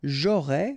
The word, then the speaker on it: j'aurais: J'aurais, final S not pronounced, tu aurais, same thing here.